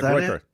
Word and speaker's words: Groyper: Groiper? Yeah, Groiper.